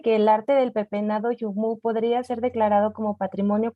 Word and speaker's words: Yuhmu: Bueno, y les recordamos, Yumu se escribe Y-U-H-M-U, para quienes tuvieran la duda.